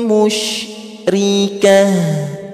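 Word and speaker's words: مشركة: Maka ketika kita ketemu dengan tanda tak marbutah eh dengan huruf tak marbutah, maka dibaca seperti H besar kalau mau berhenti ya. Jadi bacanya mim musyrikah.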